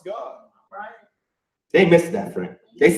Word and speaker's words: Gad: You from Gad. Pronounce God.